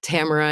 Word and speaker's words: Tamara: on um you know that Tamara is rhymes with camera and so that we've